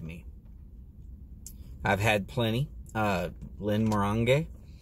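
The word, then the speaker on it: Glenmorangie: Uh some sometimes called Glenn Moran or Glen Morani or half a dozen other names. Most people pronounce it wrong. Uh in fact, I had a Scotchman sit down smoke a cigar with me and he told me that it is Glenn Morang.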